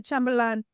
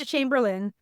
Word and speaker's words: Chamberlain: Chamberlain Chamberlain Chamberlain and I can on say chamberlan this is Chamberlain chamber the the a i n is pronounced i n okay and kill town